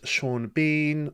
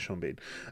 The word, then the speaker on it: Sean Bean: Lewis, Sha Bean, or Sheen Bourne. I don't know how you pronounce that. I'm joking. It's Shaun Bean.